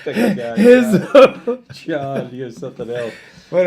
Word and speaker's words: Rizzo: Pedro Rizzo. I call him Rizzo because when I see the R, I always want to say R, but it's actually pronounced huh.